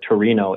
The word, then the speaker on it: Torino: both russellheim germany and tour in italy or torino italy depending on where you're from how that's pronounced so i've been kind of